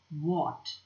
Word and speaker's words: what: silent here first word what h is silent there you don't hear h at all then circle that p